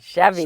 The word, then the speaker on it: Chevy: in that family and it rhymes with heavy rmes with heavy Chevy so Chevy yeah well